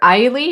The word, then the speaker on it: Ehle: So Jennifer Eiley, I think that's how it's pronounced. I thought it was Ely, but okay.